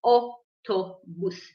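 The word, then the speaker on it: אוטובוס: Okay, it's not like English. Maybe the last part, bus, but we say autobus.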